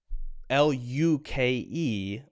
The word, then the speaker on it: Luke: for you for example l-u-k-e my name is pronounced luke so there's not a yeah yeah but a word like m-u-l-e will have the ya ya there in the name